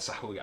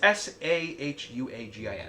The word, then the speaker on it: Sahuagin: Sahuagin. I probably butchered that. Excuse me. It's Sahuagin.